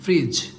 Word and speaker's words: fridge: যদিও ফার্স্ট দেখেন refrigerator and এটাকে বলবো ফ্রিজ, FRIDGE, ফ্রিজ। ফ্রিজ কখনো যদি শব্দের মধ্যে DG একসাথে থাকে উচ্চারণটা এমনি হবে ফ্রিজ, ফ্রিজ।